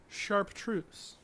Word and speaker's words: chartreuse: It is pronounced chartreuse.